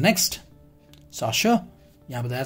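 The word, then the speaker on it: chasseur: This is the next, साशर. यहाँ बताया था प्रोनाउंसिएशन इज डिफरेंट.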